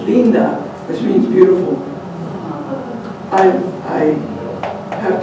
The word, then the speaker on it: linda: And I love the word linda because it's, the I's in Spanish have a long E sound, so it's linda, which means beautiful.